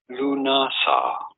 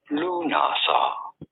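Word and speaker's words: Lughnasadh: How do you go about pronouncing it? Lunasa. Lunasa.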